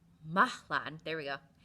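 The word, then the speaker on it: Mahlon: Um, they are pronounced Mahlan. There we go. Mahlan and Kilian.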